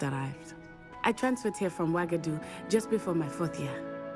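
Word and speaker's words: Uagadou: smelled with the U but the way it's pronounced it makes it smell like it's a with a w What does wagadu look like is wagadu a castle like Hogwarts it's addresses mountains of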